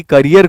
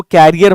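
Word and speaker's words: career: एंटन checkup ने शुरू किया अपने लिटरेरी करियर को। बहुत सारे लोग इसको कैरियर पढ़ते हैं। वो गलत प्रोनंसिएशन है। आपको करियर पढ़ना है।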